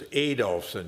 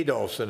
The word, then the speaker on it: Adolfson: I learned now is the way you pronounce it as ad doson you got emphasis on the a ad doson and Peterson uh new